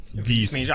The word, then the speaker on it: Vis Major: Like I just love how you pronounce it. Vis Major.